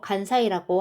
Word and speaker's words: 関西: 자, 오사카 간사 자, 요건 관서라고 한자는 되어 있지만 우리 발음으로 간사이라고 하죠, 요즘에는. 그다음에 반바크는요.